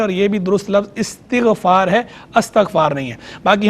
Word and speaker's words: استغفار: تو دیکھیں اس کا جو درست تلفظ ہے وہ استغفار ہے, یہ باب استفعال کا مصدر ہے, تو استغفار ہے, مصدر